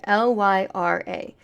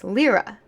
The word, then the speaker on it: Lyra: her name is pronounced lra like l e e r a that really irritated me